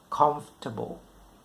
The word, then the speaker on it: comfortable: ะ ไ ม่ fort น ะ ฮ ะ comfortable อ ย่ า ง เ ช่ น I